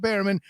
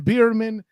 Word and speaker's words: Bearman: But let's not forget our guest today, the various esteemed Barman of Betting with Bairman. I see. And I I even said it right. I almost stuttered into Debeerman just in general.